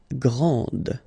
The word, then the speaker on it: grand: This final D is not pronounced.